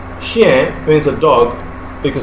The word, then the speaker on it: chien: Okay, is pronounced chien, not chien. chien. Okay, it's pronounced what? How? As chien. Now, chien. And that end there is not pronounced completely. Okay, so and in the French language, whenever we have ch, it's pronounced as sh, not ch, because there is no such sound as ch in French.